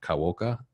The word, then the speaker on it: Kawaoka: got to say, I keep pronouncing your last name wrong. So you got to hit me with this. It's Kawoka.